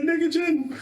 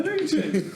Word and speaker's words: Negagen: It's spelled N-E-G. EGA. Yeah, that's what I said. But you said it N-I-G.